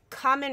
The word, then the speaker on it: Kamen: Oh, no, it was Kamen Rider. Did I say it correctly? It reminds me of ramen, but with a K.